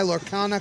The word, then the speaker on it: Lorcana: I'll be looking for him to sign my Lorcana card. I said it right? Yep. Yes. Lorcana.